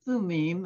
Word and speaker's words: Thummim: I think in Hebrew, they pronounce that instrument Urim and Thumim, and those are both plural words.